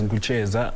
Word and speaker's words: Gucheza: It's supposed to be said as Gucheza, but I decided to put it as Cheza to be.